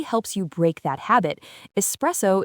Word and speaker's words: espresso: Espresso is an Italian word and its meaning is the ultimate clue to its pronunciation.